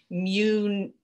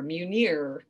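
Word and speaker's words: Mjölnir: then l l in i are and it's pronounced munir munir um and then you could have maybe some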